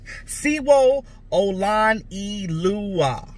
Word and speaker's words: Sewo Olonilua: Louie see whoa okay so his name is pronounced C whoa Oh lon e leu ah I'm assuming I'm assuming